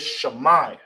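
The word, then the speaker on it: שמע: And how you will say it, how you pronounce it, is Shammai. All right. Shammai. All right. So hear and listen. In ancient Hebrew is pronounced Shammai.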